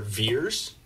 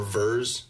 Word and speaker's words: Vers: of the Star Force they call her veers pronounced Vee RS like veers like veering butt or vers there's a couple of them to call her verse so and she's a